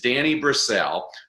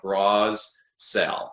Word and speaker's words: Brassell: well my name is danny brasel my last name is really easy to remember how to spell it's about like bras sell no i never took